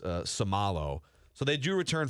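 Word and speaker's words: Seumalo: And then Isaac is pronounced Samalo.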